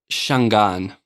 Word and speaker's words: Shangaan: When did the Shangaan trackers Is it Shangaan? How do you pronounce that properly? Shangaan. There we go.